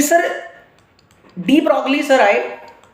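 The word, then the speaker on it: de Broglie: हालांकि लिखने में जब बात करते हैं तो उनको डी ब्रॉगली प्रोनाउंस करते हैं, जबकि जी साइलेंट, तो डी ब्रॉगली आए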